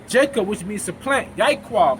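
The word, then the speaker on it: יעקב: Yaiquab, how you pronounce it.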